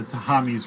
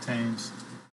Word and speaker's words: Thames: Tahames. The Thames. There's an H there. It's the Thames River. You're not going to pronounce the H, take it out.